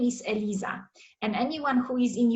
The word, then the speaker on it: Eliza: Whoever is brought up in English speaking country is gonna read it and say Eliza, E-L-I-Z-A, Eliza, right? But where I come from, the name is spelled and pronounced Eliza, and it is spelled